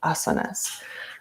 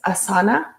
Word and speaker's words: asana: yoga practice are called asanas sometimes it's mispronounced as asana but now you know that the correct way to pronounce this word is asana with the emphasis on the first syllable so during the asana